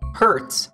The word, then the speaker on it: Hertz: different word oh good Hertz is spelled h e r TZ and it tells us